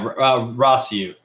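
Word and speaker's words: Rossiu: those characters like rosu is that how you pronounce that name yeah rossu rossu and like Kiton start to like play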